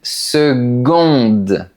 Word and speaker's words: seconde: On dit une seconde. La lettre C se prononce comme un G.